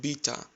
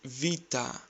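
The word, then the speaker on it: βήτα: have heard it like beta or beta replace the letter B with v and try to say Vita Vita next is GMA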